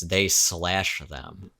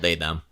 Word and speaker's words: They/Them: you're supposed to pronounce it they slash them because it's Oh, like well.